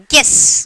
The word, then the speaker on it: guess: We are not pronouncing the word U. Guess. Guess only we are telling. U is silent.